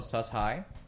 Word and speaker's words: Sus-Hi: It's pronounced Sustainable Hello, Sus High.